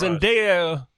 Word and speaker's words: Zendaya: Zendaya, did I say it right?